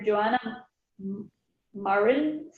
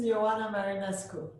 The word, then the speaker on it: Ioana Marinescu: Dr. Joanna Marin, please, can you, Joanna, can you give your name? Yes, this is Ioana Marinescu. Thank you, I apologize for my mispronunciation.